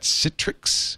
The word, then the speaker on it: Citrix: mention our friends at Citrix which rhymes with pic Citrix is my piic